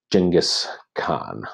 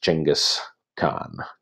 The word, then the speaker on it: Genghis Khan: of the more famous characters in world history Genghis Khan a lot of people go home Genghis Khan